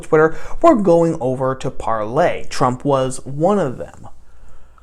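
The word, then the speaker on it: Parler: lot of people call parlor that's not technically how you're supposed to pronounce it i believe it's supposed to be pronounced parlay which is a french verb meaning to speak and i just used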